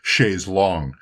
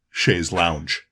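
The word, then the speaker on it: chaise longue: I do really have a great indebtedness to Wet Leg for making sure that I understood that the proper pronunciation is chaise long and not chaise lounge.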